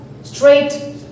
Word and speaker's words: straight: Walk, talk, straight, more, caught, calm. So in this word here, in walk, L is silent. In straight, G and H are silent.